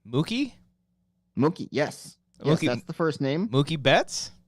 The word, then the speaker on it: Mookie: It rhymes with cookie. Mookie?